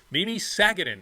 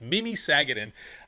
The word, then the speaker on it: Mimi Sagadin: We are sitting here today with Mimi Sagadin. I said the name wrong, which I told you I totally mess up names all the time, but it's Mimi Sagadin.